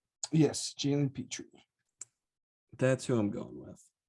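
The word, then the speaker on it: Jalen Pitre: okay we're looking at jalen petrie did i pronounce that right yes jalen petrie that's who i'm going with that's rising go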